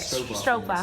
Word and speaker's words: stroopwafel: Not Stroopwafel? yet. Not yet. No. But we should have bring something, Kelly, Yes. for Everybody Next time. Stroopwafel, is that how you say it? Stroopwafel.